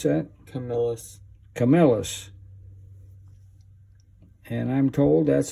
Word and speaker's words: Camillus: Come out? How do you pronounce that? Camillus.